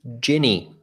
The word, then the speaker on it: Gini: they haven't taken care because it's GI n I it's not GI n a it's not gi gi I'm gonna pronounce it for everyone since we're doing audio here Ginny Thank You Jenny so